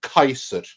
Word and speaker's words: Caesar: yeah those are two those are two different dudes one was Julius Kaiser and the other is some Italian called Caesar yeah so even Bill